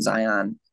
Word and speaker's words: Zion: And so Zion's in the Bible, it's Mount Zion. But I pronounce it Zion, like lion, but with a Z.